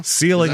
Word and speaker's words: Seiling: Seiling, Oklahoma. Okay. Yeah. Oh, yeah. It's just like the word ceiling except with an S, and they pronounce it Seiling.